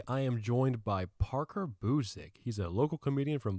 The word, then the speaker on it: Busick: I always add, but No, it's actually- Busick.